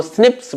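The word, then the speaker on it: SNPs: इनको स्निप्स बोला जाता है, स्निप्स। ओके, नाम अच्छा है इसका, स्निप्स, single nucleotide polymorphism, pronounced as स्निप्स।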